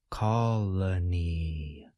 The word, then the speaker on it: colony: entire word slowly colony colony colony we can now say the whole word a little bit faster be sure that you place stress on the first part of the word colony colony colony if